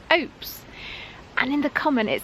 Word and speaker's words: ope: Other people who've lived in Falmouth all their lives maintain it should rhyme with hope.